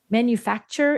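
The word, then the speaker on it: Manufaktur: This had the G manufacturer. Is it still manufacturer? If they spell it like German, it's not. It's f a k tur r. manufactur package. Manufactur. Manufactur package.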